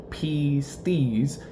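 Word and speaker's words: πίστις: In the Greek language, pistis, meaning faith, it's pronounced pistis, isn't just believing that God exists.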